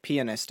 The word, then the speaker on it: pianist: and that's the thing the general consensus is that pianist is the correct way to say it and that's just who